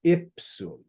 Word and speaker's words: ipsum: see the word ipsum you translate it with stress on the first syllable ipsum all right so anytime